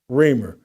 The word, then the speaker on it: Reimer: Reimer is how you pronounce it. Reimer.